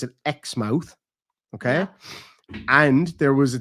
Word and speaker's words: Exmouth: ever been called exmouth which we would call exmouth like in Southern England right yeah but they pronounce it X mouth okay and there was